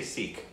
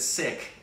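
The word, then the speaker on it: Sikh: my understanding in fact when she said sick it bothered me because I thought and I'm pretty sure it's seek I always assume if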